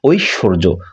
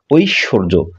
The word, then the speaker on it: ঐশ্বর্য: থাকি স্বর্য ইত্যাদি ইত্যাদি কিন্তু এর শুদ্ধ উচ্চারণ হচ্ছে ঐশ্বর্য ঐশ্বর্য ঐশ ঐশ ঐশ্বর্য এটিকে আমরা বলে থাকি